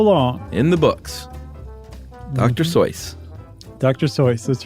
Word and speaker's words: Seuss: um we are talking we keep saying Dr soyce everybody knows him as Dr Seuss but apparently the correct pronunciation is